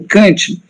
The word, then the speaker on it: Kant: de filosofia alemã, né, eu não consigo essa pronúncia de o Kant sem o N nasalizar o A, como nós cariocas fazemos. Então, falar Kant com A de batata, né?